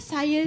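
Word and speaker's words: Saiy: Nama saya Say Say ejaan dia S A I Y say ha macam tu.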